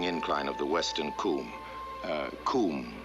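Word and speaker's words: cwm: Coombe, that is spelled C-W-M. It's a Welsh word meaning glaciated valley or basin.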